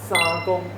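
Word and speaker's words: 三公: 是三公，发音不一样。对，你是讲沙嘛，技能沙嘛，它是三，对，要闭起来，对，要闭起来。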